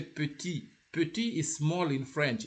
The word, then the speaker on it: petit: So petit, the T is not pronounced when it is isolated, but the T, it can be pronounced in two occasions.